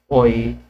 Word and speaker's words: Heun: That's why Heun's method, okay, Heun yung basa doon, kasi yung EU daw, parang sa Euler, Hoy pronunciation.